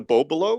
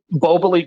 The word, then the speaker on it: Boboli: The Bobolo? It's Boboli Gardens.